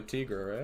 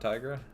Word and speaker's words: Tigra: tigra yeah i mean i think it's technically tigra right like that's technically what her name is in the comics not tiger yeah i can't remember